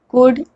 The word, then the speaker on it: could: the rule first l is not pronounced when it comes after vowels a o and u let's look at some